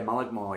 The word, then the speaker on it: Mullaghmore: Probably Mullaghmore. Is that how you say it? Yeah, Mullaghmore, yeah.